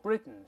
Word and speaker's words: Britain: 叫 from Britain，老师刚才读成了 Britain，咱们先说 Britain 是鼻腔爆破的，1947 年从英国手中独立出来。